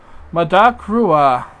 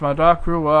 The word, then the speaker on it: Madak Rua: check them out uh madak Rua asks by the way my name is pronounced my dark Rua I knew you would